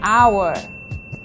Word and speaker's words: hour: lot of and plenty use and before words that start with the silent h these are nouns like our and Air and the adjective honest so we say an hour and Air and an honest person do not use and